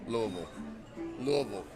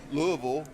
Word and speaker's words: Louisville: You guys get that right too. You heard it from Shake Anderson. Don't say it's not Louisville. Not Louisville. No, that's what white It's people Louisville. say. It's Louisville. yeah. We don't- Yeah, that's pretty much. If you're a right. white guy, you probably say Louisville. Well, stop that crap.